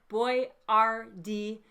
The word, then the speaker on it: Boyardee: name was Boyardee but he changed it to the phonetic boy-r-dee so that Americans could more easily pronounce it and he made some